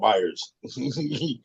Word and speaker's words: Meijer: Yeah, but it's spelt differently. Yeah, Meijer. Yeah, up here we call it Myers. Same, different spelling. Yeah. Looks like Meijer when you see it.